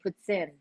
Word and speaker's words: poutine: Poutine.